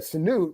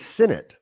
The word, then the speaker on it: Sinnott: Is that how you pronounce his name? I thought it was Sinnott. Sinnott. Well, Sinnott. Well, then it's Sinnott. Sorry, Ben is Ben. So Ben. Sinnott. Yeah, you're right, Sinnott.